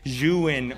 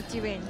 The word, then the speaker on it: Zhiyun: Okay, to clarify, that is how you say Zhiyun. This is the correct pronunciation for Zhiyun.